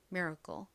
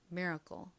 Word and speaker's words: miracle: 미라클 미국식으로는 miracle 이렇게 a 살짝 힘빠진 어 소리가 나고요 끝에는처럼 발음이 됩니다 miracle miracle 미국식으로 발음하는 것이 어려우시면